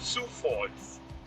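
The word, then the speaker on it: Sioux Falls: Falls with like the lettering but it is pronounced Sous City and su falls yeah so that is I over 16 years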